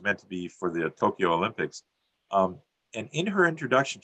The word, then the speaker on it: Tokyo: The word Tokyo, that we might say it's Tokyo, sounds like 3 syllables, is actually pronounced as Tokyo, which may sound like 2, but it actually counts as 4 sounds.